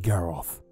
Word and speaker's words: Garroth: Ivy, my name is pronounced Garoth.